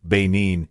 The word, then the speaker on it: Benin: Jim Beam, you boys know where Benin, Benin, it's pronounced is?